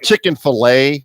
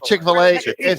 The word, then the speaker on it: Chick-fil-A: now you know if chicken fillet was running the uh the whole chicken fillet you have to say it right chick-fil-a if they were running